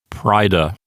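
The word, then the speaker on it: praeda: of the first declension the a and the e together form what we call a diphthong which sounds like i so it sounds like pryda and it means booty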